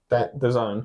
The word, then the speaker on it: DAZN: The Zone. The Zone, that's it. I don't even know how to pronounce it.